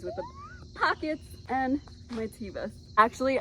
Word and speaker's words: Teva: Amazon biker shorts, always with the pockets, and my Tevas. Actually, I know that it's pronounced Teva. I just recently found this out, and I've been calling them Tevas for years, and I can't undo it.